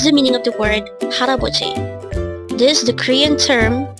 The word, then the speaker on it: 할아버지: We have hal, a, bo, G. And if we read it as a whole, it becomes 할아버지.